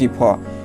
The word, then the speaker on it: cough: এখন দেখো ওই যে OUG এটা শব্দের ভিতর থাকলেও এটার উচ্চারণ হবে কি ফ। ENOUGH ইনাফ অর্থাৎ যথেষ্ট। তারপর দেখো COUGH এই OUG এটার উচ্চারণ হবে ফ। দেখো কফ এরকমের হয়েছে OUG কফ।